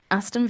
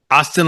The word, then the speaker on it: Aston: And then Aston Villa or Tottenham? Austin, like Austin Martin? Aston, like Aston Martin, yeah.